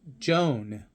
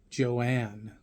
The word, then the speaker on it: Joan: as a result result mom's name is pronounced Joan not Joanne this may seem like a